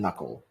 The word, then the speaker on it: knuckle: so yeah basically the if you see a KN the K is not pronounced we never say clock